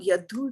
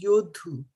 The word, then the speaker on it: yoddhu: Not yadhu, it's yodhu. Yoddhu.